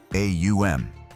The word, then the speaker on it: Om: The mantra Om isn't simply 3 letters, but a precise sequence of sounds, Aum, that gradually closes the vocal apparatus, representing the cycle of creation, maintenance, and dissolution.